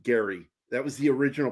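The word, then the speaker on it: Gerry: R Y was pronounced Gary. That was the original pronunciation. And then somewhere in the the late 19th and early 20th century, they started giving it a soft G.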